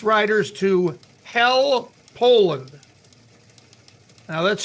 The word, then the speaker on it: Hel: this bus takes its Riders to Hell Poland now that's spelled h-e-l no Poland but it's pronounced hell